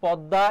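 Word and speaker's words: পদ্ম: তারপরে কি হবে বলতো দা আর ম ফলা থাকলে সেখানে কি হয় বলতো চন্দ্রবিন্দু হয় এটা হচ্ছে পদ্দা এর উচ্চারণ যদি বলা হতো এই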